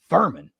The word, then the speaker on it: Furman: going to be like, Furman. Huh. Yeah. You know, that still kind of like sticks in the craw a little bit, but it rhymes with vermin.